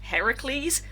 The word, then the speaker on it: Heracles: mouth and goes what why are you saying that heracles that's how it's pronounced which in the the